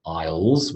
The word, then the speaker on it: isle: just another word and it is the same pronunciation as Isle meaning I will and Isle as in I don't really want to sit in the aisle okay so this is